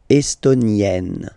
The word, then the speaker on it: estonienne: Same thing here, double N, E, and then you open it. E, estonienne, estonienne.